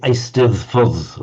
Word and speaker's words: Eisteddfod: Because the Welsh double D is pronounced exactly like our English the sound. The Eisteddfod, I think, or Eisteddfod is.